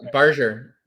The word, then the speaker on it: Barger: Am I pronouncing his name? You're right. Barger. The first time you said it correct.